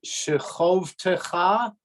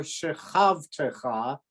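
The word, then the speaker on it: שְׁכַבְתְּךָ: Is it pronounced shechovtecha or shechavtecha? And I'm pretty sure it's litom va, because the accent in both places is not on the closed Exactly. syllable. So litom Exactly. Yep. and they're not big there either. It's No, and they're the thing- not. and shechovtecha, right? It should be Shechovtecha.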